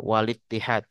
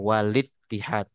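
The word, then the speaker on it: والاتحاد: syafwiyah lalu yang terakhir walittihad ya ini harus dibaca dengan Hamzah wasal walittihad bukan Wal Ittihad ya karena dia Hamzah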